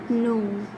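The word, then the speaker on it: know: Like in no. K-N-O-W, no, but we pronounce it no.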